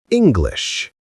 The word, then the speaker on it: English: The stress is on the first part. English.